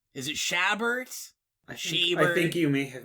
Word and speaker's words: Chabert: I always mangle them I believe the T is silent but anyway that's I don't know okay it's like a Herbert Herbert thing yes except if it's